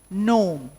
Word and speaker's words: gnome: And gnome, that's a dwarf. So here all these places the G is silent.